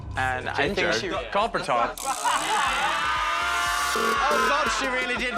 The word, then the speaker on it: Copper Topp: Is it 2 syllables? No, Copper Topp. It's 3 syllables.